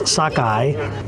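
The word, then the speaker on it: sockeye: So that's like socket in your eye. So that's sakkeye salmon.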